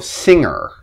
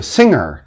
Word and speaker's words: singer: add more onto it the G is still not pronounced so singer singing any of those